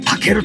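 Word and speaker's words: 猛蹴: 猛獣の猛にね、週休の週と書いてタケルと読ます。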